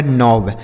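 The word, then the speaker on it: knob: आगे लिखा है के एन ओ वी से पढ़ा जाएगा नौब।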